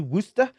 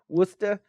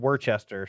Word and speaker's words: Worcester: you are you loser Wooster dude I used to think it was called Worchester so I don't know or